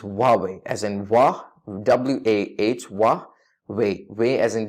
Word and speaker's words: Huawei: this is extremely extremely common to say as hobby or as hobby but the correct pronunciation for this famous Chinese smartphone electric giant is wobbling as in voix wa8 wah way way as in W ay Y Wahby that's